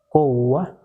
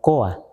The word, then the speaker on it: coa: Kowa, para mí es la mejor pronunciación así, porque así vienen los documentos, y no Koa, sino Kowa, muy suave, Kowa, Kowach.